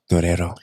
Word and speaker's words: Guerrero: It always sounds better if you say it like Enrique Iglesias. Guerrero.